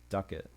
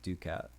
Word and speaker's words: ducat: So apparently it's pronounced ducat. I think I've been calling it ducat because it's like a pretty cool cat, you know.